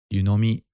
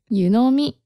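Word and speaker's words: 湯呑み: And I have another question about yunomi. What's the pronunciation for that again? That's correct, Alex, actually. Oh, what? I got it right. Yeah. Yunomi. Uh-huh. Yunomi. So it kind of goes up a little bit, right?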